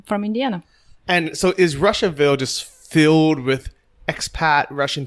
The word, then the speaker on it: Russiaville: They call it Russiaville, not Russiaville, even though it's spelled that way.